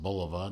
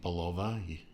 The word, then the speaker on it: Bulova: uh several watches from bulova and it is pronounced bulova not bulova please stop saying palova it's it's it's not right uh a fine